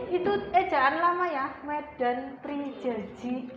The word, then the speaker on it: Medan Prijaji: Eh jangan lama ya Medan prenji gitu ya bacanya Medan prijaji itu apa namanya surat